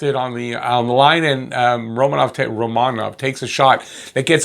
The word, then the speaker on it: Romanov: And I'm saying it like that because apparently that's how his name is pronounced, Romanov. We've been saying Romanov for so long, it sounds weird, but Romanov gets his first goal.